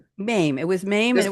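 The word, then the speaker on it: Mame: role in um was it how do you pronounce it? My was it Maim.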